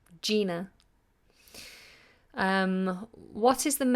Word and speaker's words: Gina: this particular instance ly so Gina with a J and Gina with a G I would pronounce both of them Gina what is the main